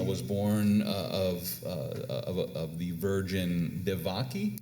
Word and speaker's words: Devaki: They claim that he's born of a virgin, and yet according to the mythology, Krishna was born of the virgin Devaki. Devaki, That's how you pronounce this.